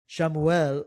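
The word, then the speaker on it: Chamuel: brought up um uh um how would you pronounce it? Shamu. Shamuel like there is something to be said about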